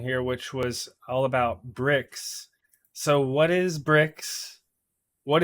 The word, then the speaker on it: Brix: what it is it's it's called bricks it's spelled b RX it's traditionally a sugar